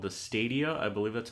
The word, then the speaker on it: Stadia: So they released, or they unveiled this thing called the Stadia. I believe that's how you pronounce it. Mm-hmm. It's like studio, but with 2 A's instead of the U and the O.